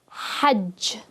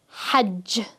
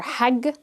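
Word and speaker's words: حج: this as hig or hag. So the jim is not going to be pronounced as a ja. Instead, it's just going to be the hard G sound, as in game.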